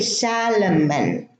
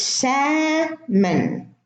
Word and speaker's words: salmon: Now, many people say salmon or almond. No, it's salmon. The L is silent.